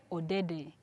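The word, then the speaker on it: Ode: here's an example oh I am OD and my name when I spell it is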